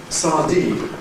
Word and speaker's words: sardine: Now, sardine is a double-stressed word. It's not just compounds that are double-stressed. Sardine is one of them, kind of fish. Because if you've got a sandwich, remember ham sandwich, late stress on sandwiches, but it's sardine, you might therefore expect sardine sandwich. But we don't, we suppress the one on dine, giving sardine sandwich.